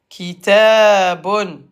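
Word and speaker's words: كتاب: En arabe, on s'arrête toujours par souun. Donc un livre kiton. Kitabon kit prolonge prolonge dealima on prolonge ilifon à l'ar le ba se prononce comme b avec seun kit b be b be b be b kitab kitabon Bonne kitab.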